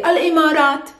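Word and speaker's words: الإمارات: to simplify your lives you can simply say al-imarat where are you from from i'm it's a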